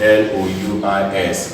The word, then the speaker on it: Louis: S is silent in L-O-U-I-S, which is called Louis.